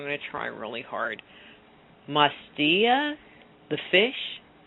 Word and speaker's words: Matsya: brain, is, and I'm going to say his name wrong, but I'm going to try really hard, Mastia, the fish, Mastya. Mastia.